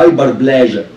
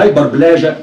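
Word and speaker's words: hyperplasia: زيادة معدل انقسام الخلية ده بيسموه هايبر بلاجا، وساعات يسموه هايبر بليجيا، وساعات يسموه هايبر بليزيا. التلات طرق للنطق صح، إنما هايبر بلاجا هو النطق البريتش إنجلش المظبوط يعني.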